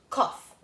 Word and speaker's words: cough: for like flower right I know that gh is something difficult in English sometimes it's not pronounced and sometimes it's pronounced so good Oh cough I have a cough